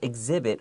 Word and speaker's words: exhibit: In fact, the museum will exhibit around 50,000 artifacts from throughout Egypt's long history.